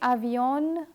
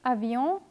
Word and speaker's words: avion: So don't say avion, crayon, but say avion, crayon.